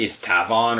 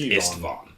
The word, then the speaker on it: Istvan: Because it's not Istavon or Istivan, it's just Istivan.